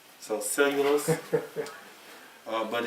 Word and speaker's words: cellulose: cells cells you lose that's mhm it's really pronuncia uh cellulose so cellulose uh but it's spelled out cell as a